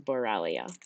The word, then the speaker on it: Borrelia: that carry borrelia burgdorferi and i may not pronounce that last part correctly but i know that it is borrelia and in the background you can see a